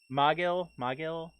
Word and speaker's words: Magil: I'm basing his name based off the word mage.